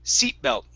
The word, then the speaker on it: seat belt: so here's the difference what you're saying you're saying seat belt c okay and that's a voice sound right here to to make it unvoiced it's seat okay and we're going to stop that sound seat belt belt okay and if it helps you pitch your voice a little bit seat seat belt seat belt that's it okay so just remember